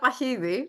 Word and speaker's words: Pahidi: And for the record, in Greek, it's Pahidi.